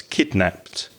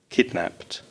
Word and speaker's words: kidnapped: sound at the end the ed when kidnap is in the past tense has a t sound so it's kidnapped kidnapped so let's start at